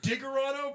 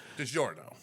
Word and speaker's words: DiGiorno: And I'm like, Diggerino, what? DiGiorno. Like, DiGiorno pizzas?